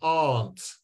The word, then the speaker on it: aunt: the r noise my aunt and aren't actually with English pronunciation some people like my Scottish wife she says aren't a bit like ant and if you heard